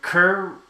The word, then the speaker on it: Kerr: And just in case you're wondering, Kerr rhymes with fur.